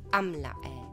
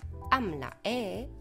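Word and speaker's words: عاملة: ako dlhý zvuk e ale pri ženskom rode je tento alif teda dlhá samohláska alebo dlhý zvuk umlčaný nepočujeme ho a nevyslovuje ho jednoducho povieme amla ako Počuješ alif ten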